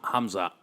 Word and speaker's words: Hamzat: I don't say his name because I can't fucking pronounce it. What is it? Hamzat.